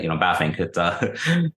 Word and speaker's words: Bavinck: So in a lot of ways, Bavinck for us, we never would have professed and do not profess being, and you say it right, actually, Bavinck.